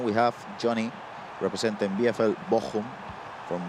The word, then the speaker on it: Bochum: And then we have Johnny representing BFL Bochum from right to left with that. This is a perfect German pronunciation.